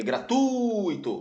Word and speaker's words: gratuito: é uma palavra paroxítona é gratuito gratuito não é gro saúva leva acento pela